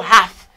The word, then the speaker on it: half: On utilise le mot half, qui le dit moitié. Be careful. This letter is not pronounced. I say half.